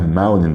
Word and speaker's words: mountain: climb a mountain هنا قلناها mountain بالأمريكان عشان التي قبلها ان فبننطقش التي فبنقولها a mountain.